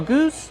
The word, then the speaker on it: goose: Goose, use the long oo like boot and food. Goose, plus the S sound with no voice.